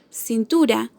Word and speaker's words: cintura: Cintura tiene su acento en la penúltima sílaba, tú.